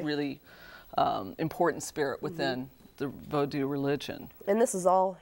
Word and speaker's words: vodou: I'm using vodou, that word, that's the Creole spelling and pronunciation for Haitian voodoo.